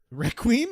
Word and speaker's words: Requiem: right now we are playing plague tale Requiem Requiem is that how you pronounce it yes I have decreed that that is wow okay uh we're currently on chapter 11.